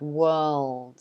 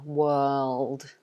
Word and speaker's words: world: world is also hard world yeah again this one because of um in british english we wouldn't pronounce the r instead we lengthen the uh world world like that so the r is dropped uh so try it